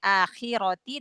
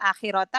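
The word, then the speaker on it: آخِرَةِ: arti sih sama artinya akhirati dengan akhirata kan tetap sama akhirat tuh ya tetapi ee e merusak e atau merubah rabnya ya. Iya ustaz. Jadi harusnya dibacanya ti harakatnya tapi tadi terbaca ta ya.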